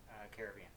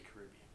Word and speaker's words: Caribbean: Caribbean. I say Caribbean. Yeah, well, both work.